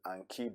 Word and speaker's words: Anki: Yeah, I actually pronounce it Anki because I'll explain why in a bit.